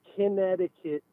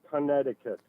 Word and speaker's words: Connecticut: It's not Connecticut, it's Connecticut. And I'm going to tell you where I learned that.